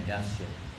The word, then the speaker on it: Dacia: It's spelled differently, but pronounced the same, Dacia.